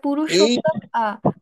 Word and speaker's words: পুরুষোত্তম: ক্ষেত্রে প্রচলতি আচ্ছা এটা পুরুষোত্তম পুরুষোত্তম দেখুন ম এর নিচে কিন্তু হসন্ত নেই তাই আমরা ম টা পুরুষোত্তম ম এভাবে উচ্চারণ করবে পুরুষো উত্তম ক্ষেত্রে ক্ষেত্রে